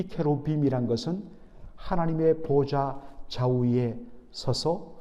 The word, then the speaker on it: 케루빔: 여러분 여기에 그룹들이라고 되어 있는데 이것은 정확하게 히브리 말로 제대로 발음하면 케루빔입니다. 케루빔, 이 케루빔이란 것은 하나님의 보좌 좌우에 서서 하나님의 뜻을 듣고 그것을 수행하는, 바로 하늘의 천군 천사를 뜻하는 히브리어 이름입니다.